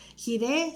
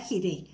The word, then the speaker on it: Jireh: qué es dios proveedor gire se escribe jota y r h jehová gire por tanto se dice